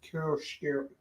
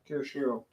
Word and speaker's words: chiaroscuro: How do you pronounce Kirishiro? Chiaroscuro?